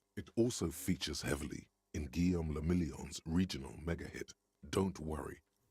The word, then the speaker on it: Guillaume le Million: Guillaume le Million. French? If it doesn't rhyme, you're not pronouncing it right.